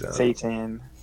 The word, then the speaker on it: seitan: gluten hmm so that's site-to-site an is it's seitan seitan is I didn't know how to say